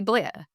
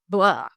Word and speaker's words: Blair: the name Blair because in New Zealand we say Blair like rhymes with flare but when I see them saying it on MC B dynasty they say it like blah almost like they're drywrenching blah.